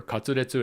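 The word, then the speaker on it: カツレツ: Katsu is short for cutlet, or katsuretsu in Japanese pronunciation, and it's typically made with either pork or chicken.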